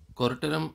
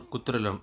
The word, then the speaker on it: Kuttralam: Kuttalam or Kuttralam, as pronounced in Tamil, was not in full force due to lack of rains, but yet I enjoyed the falls.